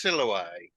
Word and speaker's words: Siloe: And there was one earlier with the reference to the river in which Caecus washes his eyes, which to make the rhyme scheme work has to be pronounced Siloe.